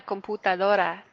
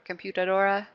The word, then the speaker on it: computadora: guys to practice okay I really would love for you to not say it like English native English speakers right like computer or computer Dora right listen to that you would say it's a little bit different sound than in English ooh loser loser la